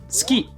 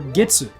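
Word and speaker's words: 月: In some contexts, this character can mean moon or month, and in some contexts, it can be pronounced as tsuki or getsu.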